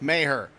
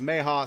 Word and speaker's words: Maher: say it um and I know a lot of people go it's Mark Maher we have it on good authority that's actually pronounced Maha so that's until I'm